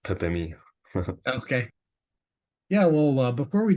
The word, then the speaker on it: Pepe: significant one the pathe yeah pep or alter pronounced Pepi okay yeah well before we jump into your